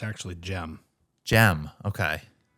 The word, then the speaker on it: Cem: character is Turkish yes so that's how you pronounce it in Turkish yeah gem so um